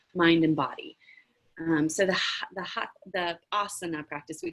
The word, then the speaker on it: asana: do my best, but asana, I think, is how it's pronounced.